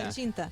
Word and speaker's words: plăcintă: Plăcintă? Yeah, Plăcintă. Plăcintă. Okay. I love that. Okay. Yeah. I'm terrible with the pronunciation.